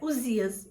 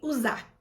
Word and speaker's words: Uzá: Então eu precisava falar aqui para vocês do erro, que não é Uzias, e sim usar, tá? A pronúncia está errada, né?